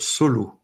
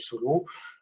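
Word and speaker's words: Soleau: peux nous expliquer ce que c'est qu'une enveloppe solo alors l'enveloppe solo ça n'a rien à voir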